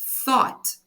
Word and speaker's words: thought: Na pronúncia, o GH a gente não fala. O GH de cada uma dessas palavras aí a gente ignora.